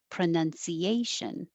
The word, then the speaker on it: pronunciation: The stress is on A, pronunciation. And I put this in contrast to pronounce, which is, where did it go? I had to put it at the end of the list that we had. So it's 14. Number 14 is the verb pronounce, and the now is the stressed vowel, pronounce. And that's different than number 3, which is the noun pronunciation.